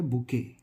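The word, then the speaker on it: bouquet: है वो होता है बुके। बुके इसको बुके बोलते हैं। ठीक है? इसका हिंदी मीनिंग होता है गुलदस्ता। गुलदस्ता और इस शब्द में गलती यह होती है। इसका प्रोनाउंसिएशन पूरा अलग होता है और स्पेलिंग पूरी अलग होती है।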